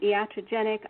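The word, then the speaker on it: iatrogenic: to do the patient safety work and I'll spell it again yata genic i8 t r OG en IC and you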